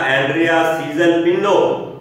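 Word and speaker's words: Andrea Cesalpino: बेटे नाम प्रोनाउंसिएशन फिर से सुन ले, नाम है इसका एंड्रिया सीजल पिनो।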